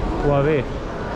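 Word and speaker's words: Huawei: ये हो गया अपना कौन सा, वावे, वावे है ना। फर्स्ट टाइम मैंने करेक्ट प्रोनाउंसिएशन किया, मैंने सुना था कि इसको तो बैन लग चुका है बहुत सारे कंट्रीज़ में, पर यहाँ पे हुआवे का ये शोरूम रहा।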